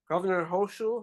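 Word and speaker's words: Hochul: So, for a former aide to Governor Hoshu, that's how you say his name.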